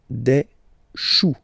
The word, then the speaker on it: choux: Then, un chou, okay, remember, when you combine this C and H, you get the sound sh. Chou, un chou, pluriel, des choux.